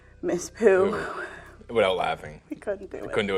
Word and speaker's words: Pou: Spell it? P-O-U. Okay. Mm-hmm. Pooh. And so for like 12 minutes of footage out of the 40 that we had was us trying to say Miss Pooh.